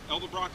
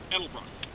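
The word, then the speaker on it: Edelbrock: miles on them I figured they were good l-dub Rock aluminum heads see I said it wrong there's developer edelbruck so that's where we're at guys not good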